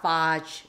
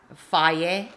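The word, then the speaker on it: Fage: It's not fudge or phage. It's called faye. You see, it's pronounced faye.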